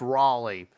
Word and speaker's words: Raleigh: and rally Raleigh trains I almost mispronounce rally as rally like no I'm pretty certain it's Raleigh look they're already in